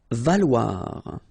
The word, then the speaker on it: valoir: Valoir. So remember, when you combine this O and E together, you get the sound wa. Okay, so valoir, valoir.